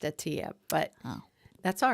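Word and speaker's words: Attia: longevity yes Dr Peter Adia yes okay I think it's pronounced Atia but that's all right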